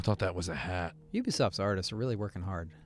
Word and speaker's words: Ubisoft: I've been to Ubisoft. Where is this one made? It's Ubisoft, not Ubisoft, by the way. I say Ubisoft. But it's supposed to be like ubiquitous.